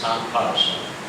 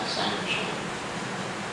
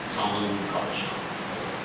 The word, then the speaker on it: Sankarshan: And the expansion of Balaram, this Sankarshan, that's how you pronounce it, not Sankarshan, Sankarshan, nasal sound.